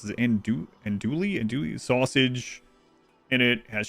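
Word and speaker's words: andouille: And Dewey and Dewey. Yeah. No L. No L pronunciation.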